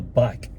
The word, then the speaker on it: BAIC: so we are in a bike which sounds strange to pronounce but that's how you do a say it apparently it's baic which is Beijing or